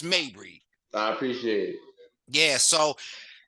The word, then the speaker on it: Mabry: pronouncing Balenciaga and all that other we're gonna pronounce Mabry I appreciate it yeah so this is open